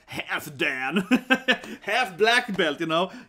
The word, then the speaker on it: Halfdan: But this name is pronounced more like Halfdan. Halfdan? Halfdan, yeah. Half. Halfdan. So this is more like Halfdan. Typical double name, probably if you like that, it's probably easy to pronounce it right. So think more like two words, and a lot of